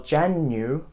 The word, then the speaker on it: Jan-Yu: It's like you are saying January, but someone just interrupts you, so Jan-Yu, which is so simple.